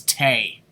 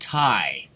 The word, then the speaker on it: Tay: i thought it was tay apparently it's pronounced thai like thai food i mean ty conte